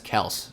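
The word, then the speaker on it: Kelce: he actually said that his name is pronounced travis kels so i guess we've been saying it wrong all this time i'm going to keep saying kelsey because i think that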